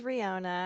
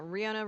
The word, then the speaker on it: Riona: hello my name is Rihanna I used to her pronouns uh yeah Rihanna rhymes with Fiona if that's helpful um